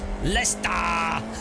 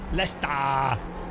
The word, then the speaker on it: Leicester: But by the way, it's pronounced Lester. There we go. Lester, they actually have a uh virtuality uh machine in the Leicester Computer Museum, a fully working one.